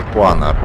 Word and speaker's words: Panhard: що нещодавно мене поправили що вірно читати не р а панар ну бачите я дослухаюся